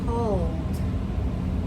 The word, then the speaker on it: pulled: at the other sound, the D sound, that's for all other verbs. So, we talked about pushed. That's a T sound. How about pull? Pull. We pulled. We pushed the door. We pulled the door.